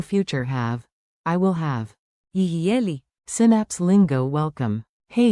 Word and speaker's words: יהיה: Tiny pronunciation tip, say it like a smooth free beat, yi hay yi.